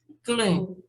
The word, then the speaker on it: clean: Clean. Clean, Clean. Clean. clean. Eu já mostrei para vocês, esses dois pontinhos aqui significam um prolongamento da pronúncia, e o N é bem acentuado. Ne, clean, clean.